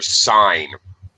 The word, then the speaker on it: sign: Okay, your sign. All right. My sign. Confusing word in English, because when it's sign, the G is silent. Sign. When it's in other words like signal, you pronounce the G.